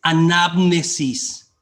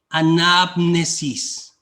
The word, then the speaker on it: anamnesis: En griego es anamnesis. Anamnesis. Y tiene un acento en la anamnesis, ¿sí?